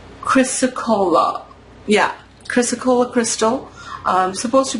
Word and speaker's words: chrysocolla: Hold on, I want to see how it's pronounced. Chrysocolla.